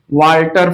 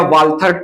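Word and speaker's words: Walther: बावेरी या बोवेरी जो भी प्रोनाउंसिएट करना चाहे कर सकते हैं। एंड वाल्टर फ्लेमिंग, वाल्टर या वाल्थर THER भी आता है, वाल्टर फ्लेमिंग 1879 में discovered discovered mitosis in animal cell, in animal cell.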